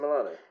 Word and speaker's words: Milano: Blimey, and you're based in Milano? Yeah. Why am I saying Milano? Milan. Milano. I'm English. Is that how you say it in Italian? Milano. Milano. Simply Milano.